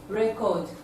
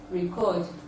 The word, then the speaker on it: record: Record, record.